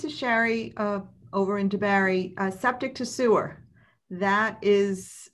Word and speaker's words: DeBary: debary sherry or yeah city of debary that rhymes with your name um so the uh